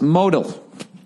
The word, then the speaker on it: modal: daily dose of confidence no modal is pronounced modal I don't understand why every week why they won't show me where the accent is they put in quotes all lowercase mohd al modal that's how I'm gonna say